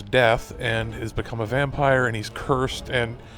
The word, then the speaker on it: Vampyr: Vampir or vampire hunter pronounced a vampire with a why is a new action